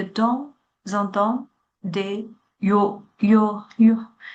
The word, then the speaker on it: yaourt: Toutefois, je bois de temps en temps des yaourts. Avec mon petit déjeuner, je bois généralement du jus d'orange ou Jus d'orange. S 是不发音的 jus d'orange ou du multifruit.